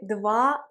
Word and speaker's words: двадцать: Dans le mot 20, la consonne D ne se prononce pas. C'est 20, 20.